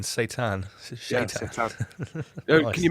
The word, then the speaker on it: Seitan: I pointed this out numerous times, obviously, but it's spelled Seitan, Satan. Oh, like the Islamic spelling, Satan.